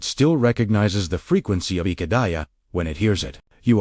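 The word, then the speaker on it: Ihedaya: How to pronounce it? Say it slowly, I-H-E- D-A-Y-A. Let each syllable land without rushing. The second syllable, h e e, is where the breath carries the most resonance.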